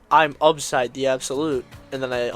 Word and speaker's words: Upside: Oh yeah, fun fact, it's actually, the original way to pronounce it was Upside, not Obside. But that kind of just fell out the window because everyone kept calling me Obside.